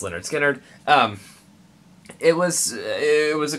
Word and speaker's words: Lynyrd Skynyrd: long as the vinyl will play Lynyrd Skynyrd pronounced Lynyrd Skynyrd it was it was a cool fine just